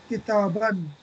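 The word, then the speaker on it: كتابًا: So note that a noun with a tanween in the accusative case takes an alif, which is not pronounced. For example, kitabun, kitabin, kitaban. And here alif is silent.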